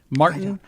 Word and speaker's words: Martyn: Martyn, but it's spelled M-A-R-T-Y-N. Martyn Lewis.